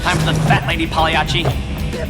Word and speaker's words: Pagliacci: Time for the fat lady, Pagliacci. Actually, Dave, the proper Italian pronunciation would be Pagliacci.